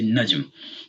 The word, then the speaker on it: نجم: If we drop the tanween, because we're saying the word by itself in a statement, we say najm.